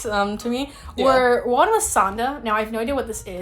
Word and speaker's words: Sanda: me, were one was Sanda. Now I have no idea what this is, but Santa, but replace the T with a D is how it's spelled, Sanda.